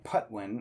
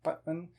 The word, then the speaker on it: Patwin: the native pronunciation there, that has an unaspirated P. So instead of saying Patwin or Patwin, you kind of say it with a muted P, like the Spanish P, Patwin.